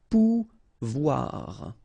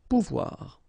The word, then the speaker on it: pouvoir: sound OU, okay, and when you combine this O and I here, you get the sound OUA, okay, so pouvoir, pouvoir.